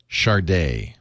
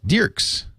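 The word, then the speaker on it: Dircks: How do you pronounce this, Leo? D-I-E-R-C-K-S. Charday. No, D-I-E-R-C-K-S. D-I-E-R-C-K-S. Dirks.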